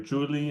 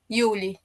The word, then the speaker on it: Yuli: And do you go by Yuli or Julie? How do you say your name? Yuli.